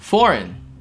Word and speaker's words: foreign: Foreign.